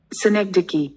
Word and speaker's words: synecdoche: Indian pronunciation of this word is Synecdoche. synecdoche. Synecdoche. In British English it is pronounced, Synecdoche. and in American English Synecdoche. synecdoche. Okay, so we will use Synecdoche.